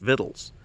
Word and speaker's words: victuals: The word looks like victuals, victuals, but it's actually pronounced victuals.